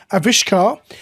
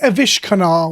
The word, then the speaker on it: Avishkar: not a Vish canar think of a fish car that's how I'm trying to remember it a fish car aish